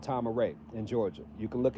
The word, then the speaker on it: Tama-Re: And in the late 90s, he founded a land called Tama-Re in Georgia. You can look it up. It's Tamare. Spelled like this.